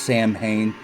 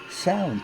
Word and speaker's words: Samhain: about this I always thought that it was pronounced Samhain but I've been corrected several times by people in the Pagan community saying it's not Samhain it's sound but when you're talking about the band you're